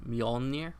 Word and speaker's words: Mjolnir: a full replica of Thor's Mjolnir, is the way I pronounce it. I know there's other ways people pronounce it.